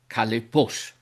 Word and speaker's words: χαλεπός: As you can hear, the accent falls on the vowel omicron, ο (since I pronounced it like this: χαλεπός); now, this vowel is short: therefore, the accent must be acute.